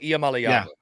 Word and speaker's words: Iamaleava: doing it on purpose it's malava Nico IAM malava I have worked on